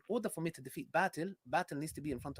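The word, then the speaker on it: باطل: Yeah, by the way, it's batil, not batil. It's batil, which means falsehood, by the way. If you're going to use Arabic words, at least, learn how to pronounce them.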